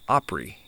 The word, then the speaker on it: Opry: An example would be the word opera. To pronounce that word in country talk, it would be Opry.